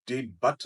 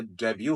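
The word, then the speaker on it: debut: ई बी यू टी ये डी बट नहीं होता ये डेब्यू होता है मींस फर्स्ट पब्लिक अपीयरेंस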